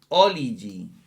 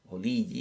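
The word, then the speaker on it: ὀλίγοι: Y luego viene que es una conjunción coordinada copulativa y viene oligi, oligi o oligi, ¿verdad? Tiene el acento en li, oligi en la penúltima, oligi, y lo buscamos en el diccionario, ¿verdad?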